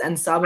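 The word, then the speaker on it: En Sabah Nur: Did I pronounce that right, Robert? Yes, that was correct. It is Ensabanur.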